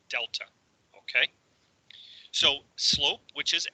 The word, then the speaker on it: delta: And this triangle is pronounced delta.